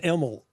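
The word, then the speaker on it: Imel: Is the last name pronounced Emel? Is that how we say it? It's pronounced Emel. I-M-E-L. Emel.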